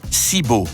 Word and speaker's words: Sic Bo: sigbo parfois prononcé siibo est un jeu de